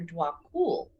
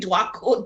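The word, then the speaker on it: Djwhal Khul: So Alexis last time asked me if I would talk about the Ascended Master Dwakul, because I invoke him a lot and whatever.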